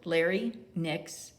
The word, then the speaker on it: larynx: for your larynx and it's spelled larry nix l-a-r-y-n-x and then your thymus